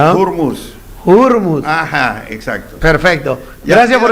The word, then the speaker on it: Hormuz: Y ya aprendí que no es Hormuz, es Hurmuz, la pronunciación. Ya, ahí nomás. Ahí. Y esa H tiene que aspirarla. Hurmuz.